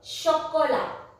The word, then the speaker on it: chocolat: In French, CH is pronounced as sh. Sh. Chocolat.